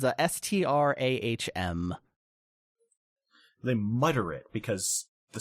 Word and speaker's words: Strahm: Yeah, it's not really clear how to pronounce or spell that. It's a Strahm.